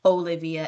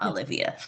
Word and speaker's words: Olivia: oshun um oya and they pronounce their name with the old pronunciation so please try to pronounce my name also um as part of my reclaiming as Olivia and not Olivia and it's fine that